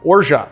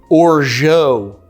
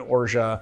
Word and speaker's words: orgeat: how that's possible because Greg from how to drink says Oro which is absolutely not how you pronounce it I don't understand how